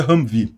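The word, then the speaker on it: Humvee: não é uma blindagem muito forte e se pronuncia ramv enfim eh esse esse jip aqui então ele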